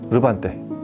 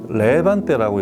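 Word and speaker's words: Levante: 이태리 챔프죠 리비에라라는 회사에 르반떼 원래 이태리 발음 르반떼라고 하는데 이제 국내에서 이제 수입 학원 유통하는 분들은 한글로 이름표기를 하다 보면 우리나라 맞는 발음을 해야 돼서 레반떼라고 이렇게 이름을 부르고 있습니다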